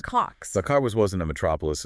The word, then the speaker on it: Kocs: That's spelled K-O-C-S. Cox.